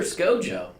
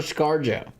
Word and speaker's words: ScarJo: serious look it up everyone calls her scojo nobody calls her scarjo scojo scojo it rolls off the tongue now yours makes more sense phonetically am I supposed to look this up typ scojo scarjo Scarlet Johansson no look up SC Joo does it say scar Joe like anyone calls her that it's scojo's eery is that her